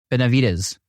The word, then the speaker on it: Benavides: the Columbus tour Robert Benavides Robert how you doing good now was you pronounced that really good so yes we're used to that last name from El Paso so uh okay it works out perfect well congratulations on